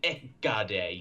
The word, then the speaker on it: Hecate: Or if you want to get really Greek with it, Ekade, you drop the H.